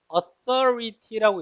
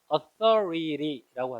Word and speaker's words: authority: 이 단어는 뭐라고 있냐면 강세 이음절에 있어서 authority라고 읽죠. authority. 미국 사람 읽으면 authority라고 하죠. t를 모음사에서 R처럼 발음 살짝 풀려서 authority.